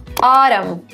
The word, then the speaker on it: autumn: When N comes after M at the end of the word, you don't pronounce the N. Some examples to make this clear. Autumn. Damn. So it actually ends with an N, but you don't pronounce it.